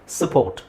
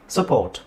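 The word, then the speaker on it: support: bonus circus okay fine but ಅದರ ಸರಿಯಾದ ಉಚ್ಚಾರಣೆ ಏನು ಅಲ್ಲಿ ನೀವು ಅ ಕಂಪ್ಲೀಟ್ ಆಗಿ ಹೇಳಂಗಿಲ್ಲ ನಾನು ಇದರ ಪ್ರಕಾರ ಅಲ್ಪಪ್ರಾಣ ಮಹಾಪ್ರಾಣ ಹೇಳಿದಂಗೆ ಅ ಕಂಪ್ಲೀಟ್ ಆಗಿ ಹೇಳಂಗಿಲ್ಲ ಅದನ್ನ ಅ ಸೌಂಡ್ ಮಾಡಿ ಹೇಳ್ಬೇಕು which is ಸಪೋರ್ಟ್ ಸಪೋರ್ಟ್ ಸಪ್ಲೈ ಸಪ್ಲೈ ನಿಮಗೆ ಅನ್ಸುತ್ತೆ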